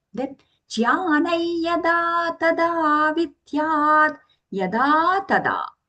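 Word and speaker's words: ज्ञानं: Then the anuswara here is being pronounced as a nasal ya sound because it is followed by the letter ya in the word yada. Then jnanai yada tada vidyat, yada tada.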